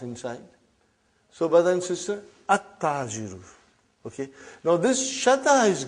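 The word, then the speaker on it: التاجر: At-Tajiru. You did not pronounce Al. You did not pronounce Lam. Okay, you did not pronounce. You skipped it.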